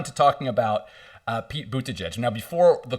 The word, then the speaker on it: Buttigieg: talking about uh pete bootaj now before the call we were practicing how to say his last name we kind of landed on boot to judge but if we're for